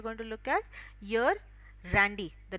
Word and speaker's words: Randy: Shivraj, you will be Randy, and Sheetal ma'am, you will be Emily. The pronunciation is, don't mispronounce it.